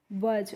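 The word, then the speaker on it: budge: इसको हम क्या पढ़ते हैं? वज पढ़ते हैं। और इस वज इसलिए पढ़ते हैं कि हम यहां पे जो डी होती है यह साइलेंट होती है। तो यानी कि साइलेंट का मतलब होता है उसका हम प्रोनाउंसिएशन नहीं करते हैं। यानी कि उसको हम नहीं पढ़ते हैं।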